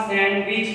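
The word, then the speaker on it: sandwich: इसके अलावा सैंडविच, हम इसको सैंडविच कहते हैं, सैंडविच, तो यहाँ पर डी साइलेंट है, तो ये आपके पास सैंडविच बनेगा, सैंडविच।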